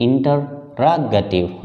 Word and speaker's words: interrogative: यहां स्ट्रेस है रा के ऊपर, इंटररोगेटिव। रा को जोर से बोलना होता है, और जो प्राइमरी स्ट्रेस